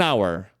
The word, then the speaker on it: hour: fala an our an hour I'll be Ready in an hour eu vou estar pronto em uma hora an hour porque o h é mudo o primeiro som é de vogal hour então não tem nada